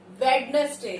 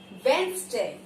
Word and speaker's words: Wednesday: Next word is everyone says it Wednesday. It is not Wednesday. It is Wednesday.